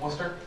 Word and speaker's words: Worcester: It's in a place called Worcester, Mass. Not spelled that way, but that's how it's pronounced.